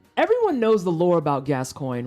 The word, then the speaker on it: Gascoigne: great i feel like gaskion oh my god i said it wrong for the first time in like a long time gascoigne is one of those